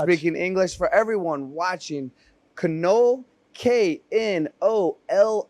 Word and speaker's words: Knoll: For everyone watching, Knoll, Knoll, that is how you say it for my friends in America who are mispronouncing it. Knoll, Correct. Knoll.